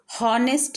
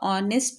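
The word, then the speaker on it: honest: लेकिन क्या होता है, ये एच साइलेंट हो जाता है. तो एग्जाम्पल कैसे, हॉनेस्ट नहीं होगा, ऑनेस्ट होगा.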